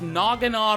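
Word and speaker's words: Naganadel: how badass nogan is and yes it is pronounced nogan I was surprised too when they first said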